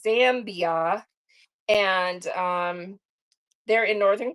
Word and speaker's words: Zambia: I always say Zombie like Zam. It's Zambia.